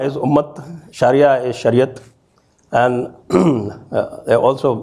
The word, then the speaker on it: Ummat: So Ummah is Ummat, Sharia is Shariat, and there are also a lot of other nuances. It's become a fashion to use the Arabic pronunciation these days.